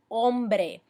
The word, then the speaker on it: hombre: you with that now the H pronunciation ladies and gentlemen it is silent ok so make sure that you're not saying things like el hombre it's el hombre or expressions like tengo